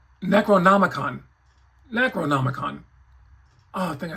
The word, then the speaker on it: Necronomicon: The one thing that he did not come with, which I thought it would, would be the Necro ComicCon. Did I say that right? Necronomicon.